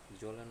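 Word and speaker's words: sollen: আবার বলতেছি, এস যদি বাক্যের প্রথমে বসে এবং তারপরে যদি ভাওয়েল হয় তাহলে ওই এসের উচ্চারণ জয়ের মতো হয়, ঠিক আছে। জোলেন অর্থ উচিত।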